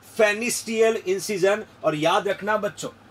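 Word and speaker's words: Pfannenstiel: That we कैन से फेनिस्टियल incision का दूसरा नाम है प्यूबिक इंसिजन। इसका पैरामीटर आप जानिएगा बच्चों, पी साइलेंट है, देखिए पील साइलेंट है, फेनिक्टियल इंसिजन बच्चों, फेनिस्टियल इंसिजन और प्यूबिक इंसिजन के नाम से भी प्रोनाउंस करते हैं।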